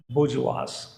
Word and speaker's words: bourgeois: Okay, it will be spoken as बोर्जुआस, बोर्जुआस.